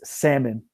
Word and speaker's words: salmon: American native speakers it's salmon so it's air right salmon yeah in California they say saw not AB but ah salmon they still do not pronounce the L but they say summon